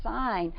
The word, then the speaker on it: sign: word like signage or sign and they think why does it have to have that silent G in there I mean like